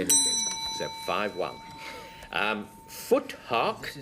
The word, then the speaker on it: Futhark: Foothark is the way I would pronounce this next word. Frank? Futhark. Futhark, because it's Anglo-Saxon.